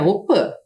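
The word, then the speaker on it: opy: participam sempre da op embora a gente escreva aqui opi que é a casa de reza a pronúncia correta é opan Principalmente as crianças pois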